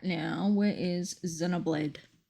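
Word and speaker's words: Xenoblade: Now, where is Zenoblade? The way that it's spelled with an X, but it's pronounced with a Z sound always throws me off.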